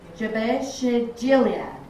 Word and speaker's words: Jabesh Gilead: Jabesh Gilead.